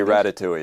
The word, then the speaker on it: Ratatouille: So first, how do you pronounce that? We say Ratatouille, yeah.